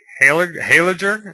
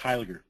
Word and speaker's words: Heiliger: I am joined by Heiliger. Is that how you pronounce it? It's pronounced Heiliger. Heiliger.